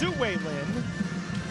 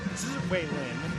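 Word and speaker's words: Tzu-Wei Lin: a free agent, and in the U.S. it's pronounced Ziwei Lin, given the pronunciation guide by Richard Wong.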